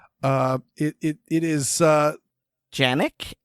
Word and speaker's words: Canik: also make a 1911 clone and not not canic or Janik uh it it is uh Yannick it's spelled yes but okay and I have I